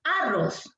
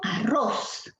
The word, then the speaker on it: arroz: no puede ser arroz pero si yo digo arroz sí sin forzar mucho arroz aquí está la fuerza de voz eso significa que está